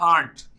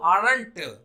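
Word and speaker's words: aren't: अगर आपको आरंट pronounce करना है तो इसको आंट प्रोनाउंस, आंट मतलब चाची, वो वाला प्रोनाउंसिएशन करना शुरू करिए आंट।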